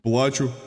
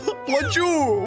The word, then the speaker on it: плачу: Плачу. Чё? Зачем ты плачешь? Не, не туда ударение поставил. Плачу, вот.